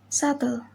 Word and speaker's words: subtle: and thumb rule 2 b is usually not pronounced before t at the end of a word example death dater doubtful and subtle next is letter c